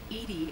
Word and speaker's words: EDI: a vacuum space why are you named Edie Edie is the phonetic pronunciation of EDI that is an acronym for